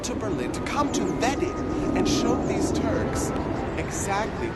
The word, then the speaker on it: Wedding: In German, pronounced Wedding.